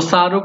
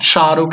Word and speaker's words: Shahrukh: Like if someone name is शाहरुख, you will not से शाहरुख, सो शाहरुख will be the wrong, शाहरुख is correct.